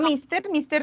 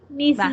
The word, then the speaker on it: Mrs.: No, mister no, porque mira que tiene una S.